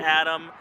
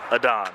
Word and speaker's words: Adon: It's not Adam, it's not Aiden, it's Adon.